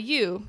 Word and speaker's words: yew: Oh, that plant is called a yew. Yew rhymes with Jew.